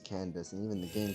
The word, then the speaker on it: Candace: It's the same thing with Candace, where technically her name, where it originates from, you know, her name, it would be pronounced Kendake, but no, we pronounce it as Candace, and even the game pronounces it as Candace.